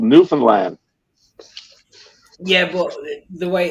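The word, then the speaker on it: Newfoundland: new phone land uh it's not called New Found land it's called new land yeah but the way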